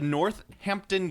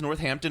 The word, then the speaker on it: Northampton: t h a m it's nor it's not ampon you got to say it right you got to say it right I'm doing a dick Fang dike yeah you got to say it right it's not ampton I'm a chimney sweep